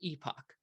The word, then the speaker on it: epoch: And then we actually have to specify the epochs and the batch size. People say this is pronounced epoch, but they are wrong.